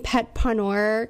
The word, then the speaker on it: PetPawneur: Am I pronouncing PetPawneur correctly? Yes, absolutely. So it's a play on the word entrepreneur because whenever people always ask me what I did, I'm like, I'm a pet sitter.